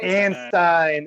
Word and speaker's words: Anstine: Anstine. There we go. I had pronounced it with an E earlier, so I just want to make sure I get Stein. like the beer stein.